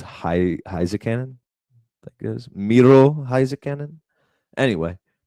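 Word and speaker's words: Heiskanen: It's Heisekanen.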